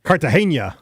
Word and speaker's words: Cartagena: Cartagena. Uh-huh. It's like the Colombian city. Cartagena.